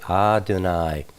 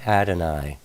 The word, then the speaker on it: Adonai: We always say Adonai, not Adonai.